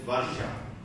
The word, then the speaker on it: Varsha: It is VARSHA. It's pronounced as Varsha, and you may not be very familiar, so here I am with it.